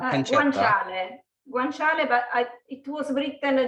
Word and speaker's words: guanciale: How do you pronounce that again? Guanciale.